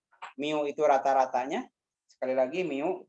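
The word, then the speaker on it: μ: Jadi, probabilitas di sini P ya, X, ini dibacanya mu.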